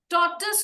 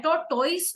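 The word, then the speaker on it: tortoise: टॉर्टस होता है, टॉर्टोइस नहीं होता है.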